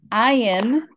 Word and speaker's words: Ayin: numerical value is 70 ion is a silent letter much like Olive which was the very first letter that we um we talked about so it has no sound of its own it sounds like whatever vowel it is paired with